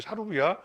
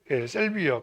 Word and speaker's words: 샐비어: 편지 편지 맨드라미 셀비야 셀비어가 뭔지 알아요 사로미아예요 사루비아 사루비아를 셀비어라고 영어를 읽는 방식이 사루비아로 읽느냐 사루비아는 일본식 발음이겠죠 그리고 이제 샐비어 칸나 이렇게 나누고 있는데